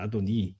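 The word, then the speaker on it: אֲדֹנִי: 이게 사실 시편에 나오는 구절을 가지고 이야기하는 거였는데 거기도 사실은 히브리어식 발음은 아도나이가 아니라 아도니입니다. 아도니.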